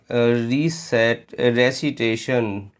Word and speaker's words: receipt: Recitation और रिसीट। अब जरा रिसीव और रिसीप्ट की स्पेलिंग में देखिए EI होता है।